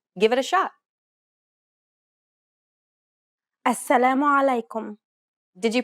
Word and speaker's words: السلام عليكم: السلام عليكم. Did you pronounce this greeting correctly? Be mindful about the throaty sound in this common greeting.